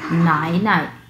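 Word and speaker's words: 奶奶: ওকে, এরপরে আসছি, এরপরে হচ্ছে নাই নাই নাই নাই নাই নাই। এই যে প্রথম অংশটুকু হচ্ছে 3 নাম্বার টোন এবং পরের অংশটুকু হচ্ছে নিউট্রাল টোন।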